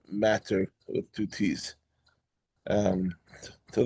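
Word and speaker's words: madder: That's matter m a dde d e r not matter with two t's. Um, to those of the English um, perfectionists, it's actually pronounced matter.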